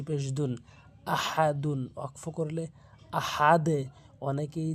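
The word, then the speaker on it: أحد: হু আল্লাহু হামজা জবর আহা জবর হা আহা অনেকে ভুল বলে আহা ছোট হা এনে উচ্চারণ করে আহা আহা বলতে হবে দাল দুই পেশ দুন আহাদুন অকফ করলে আহাদে অনেকেই যে ভুলটি করে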